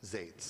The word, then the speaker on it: Zates: is your last name it's pronounced like Gates but with a Z zates yeah okay honorable mayor and city council my name is zades I live in the